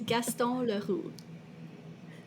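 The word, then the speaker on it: Gaston Leroux: It is Gaston Laru.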